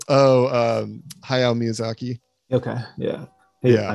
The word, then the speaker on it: Hayao Miyazaki: How do you pronounce his name? Haruzaki Makotako. Hayao Miyazaki.